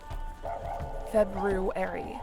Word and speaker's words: February: February. I always over pronounce that. Same thing with wedness day. It's mostly just to remind myself how how to spell it.